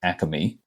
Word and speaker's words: Acme: Philadelphia it is pronounced aimy there there is an ah in there for some reason no one knows why that's just how we say it y unfortunately it's there's